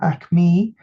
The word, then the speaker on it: Aicmí: into five groups so that is akma singular a i c m e or amme plural and each of these